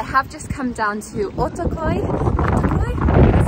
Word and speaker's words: Ortaköy: and but i have just come down to otokoi that's how you say it which i came